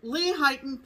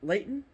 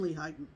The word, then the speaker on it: Lehighton: pretty sure is that layton oh for sure it's not late it's lehigh yeah that much i